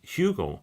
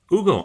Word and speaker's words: Hugo: Everyone pronounces it with an H like Hugo. So well done. Hugo, I am absolutely thrilled that I got that right.